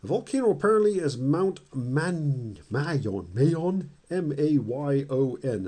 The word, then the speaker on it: Mayon: The volcano apparently is Mount Mayon, M-A-Y-O-N is how you spell it, and I believe it's pronounced Mayon, not Pinatubo. It's not Mount Pinatubo.